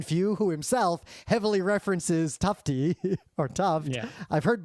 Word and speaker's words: Tufte: It's Tufte, and the reason I know that is because before the show, I went on Wikipedia, and for his Wikipedia page, and there's one of those little speaker icons. And you clicked on it. Names. You can click on it and hear the pronunciation, so it's Tufte.